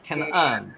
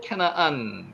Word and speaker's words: 캐나안: 가나안 우캐나안 실제로는 캐나안이라고 했습니다. 캐나안 그리고 캐나안 그런 뜻이죠.